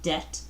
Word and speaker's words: debt: person has a debt that's how you pronounce that it's not even say the B silently debt of two hundred dollars